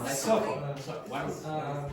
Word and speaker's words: subtle: The B is silent. Subtle. Subtle.